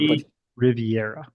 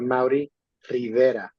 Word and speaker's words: Maori Rivera: Can someone say his name so that it's so I guess I would put Maui Riviera. a It's Maori, actually a Maori Rivera.